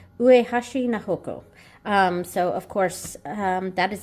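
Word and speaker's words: 菜穂子: it down, and it is so Ue Hashi na hoko. Ue Hashi na hoko.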